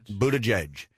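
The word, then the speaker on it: Buttigieg: in that right though he looked up the pronunciation what about and he said Buddha judge mere Pete sounds a whole lot easier but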